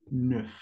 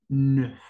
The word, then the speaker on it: neuf: Se pronuncia como una E francesa. E. Y solamente peguen la N con la F. Neuf. Neuf.